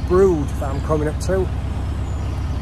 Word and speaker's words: Brewood: to i think it's brood that i'm coming up to it's sort of spelt bree wood but i think it's pronounced brood so let's see what